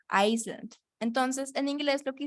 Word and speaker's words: Iceland: Entonces, ese en inglés se pronuncia así, Iceland.